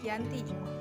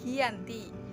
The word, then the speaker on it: Giyanti: pada 13 Februari 1755 nama Giant di diambil dari lokasi penandatanganan perjanjian yaitu di desa Janti dalam pelafalan Belanda ia tersebut sebagai Giyanti dan secara tertulis ia terbaca sebagai Giyanti tempat tersebut sekarang dikenal